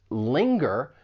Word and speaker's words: linger: Singer, you only have that ing sound. Whereas linger, you have the ing plus that g sound afterwards. Linger. It's similar to the word finger. These are rhyming words.